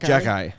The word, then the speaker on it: Xhekaj: pronounced? Jack Jack Guy.